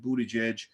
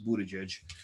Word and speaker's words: Buttigieg: Pete bode jej is I had to practice pronouncing his name because you know it's hard to pronounce Budaj but yeah especially when you look at the spelling it's kind of kind of strange but anyway Charlemagne interviewed